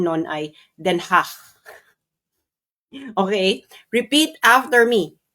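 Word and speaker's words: Den Haag: Ang pronunciation non ay Denhah.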